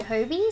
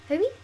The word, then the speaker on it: Hobie: I think you pronounce that Hobie, so H-O-B-I, Hobie.